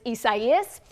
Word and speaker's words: Isaias: Number one, because a lot of people were confused about how to pronounce it. It is Isaias, and because it led to a lot of power outages, but it was not retired.